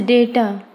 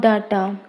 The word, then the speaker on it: data: This is data, not data. Data.